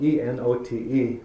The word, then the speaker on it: Enote: In fact, my last name it's spelled E-N-O-T-E, but it's pronounced Enote.